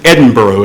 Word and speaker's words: Edinburgh: today and the capital city of Scotland is Edinboro and yes that's the way you pronounce it it's not Edinburgh it's Edinburgh and